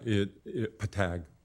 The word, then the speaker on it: PTAC: Do you pronounce it P-A-TAC or PTAC, or how are you pronouncing that group? Yeah, PTAG.